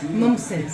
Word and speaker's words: ممتاز: Mumses.